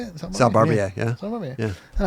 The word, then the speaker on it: Barbier: Sal Barbier, yeah.